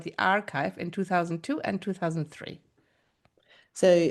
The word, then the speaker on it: arXiv: Now, arXiv is spelled A-R capital X-I-V, where the X stands for chi, the Greek letter. And as we'll hear in this podcast, arXiv is a really important part of the scientific and mathematical community.